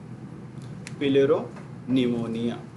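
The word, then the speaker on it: pleuropneumonia: पिलेरो निमोनिया, तो 3 part में उसको डिवाइड करके पढ़ लो। वो पी बीच वाला साइलेंट है, हाँ, जिस तरह से टेरिडोफाइट में पी साइलेंट है, कैटल में इस तरह की डिजीज।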